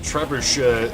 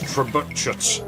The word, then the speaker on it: trebuchet: Empires and he he insisted it wasn't trebushe, it was trebuchet. So it's like no, it's trebuchet.